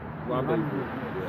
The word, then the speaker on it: rendezvous: It was used in the meaning of the date on the calendar when a person has a romantic how do you pronounce that? Rendezvous.